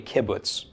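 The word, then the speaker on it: קִבּוּץ: with so I'm sorry I keep going into coup boots because I want the first valve to be right but it is actually a kibbutz kibbutz makes a short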